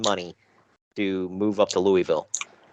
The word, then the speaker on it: Louisville: lot of effing money to move up to Louisville. It's pronounced Louisville.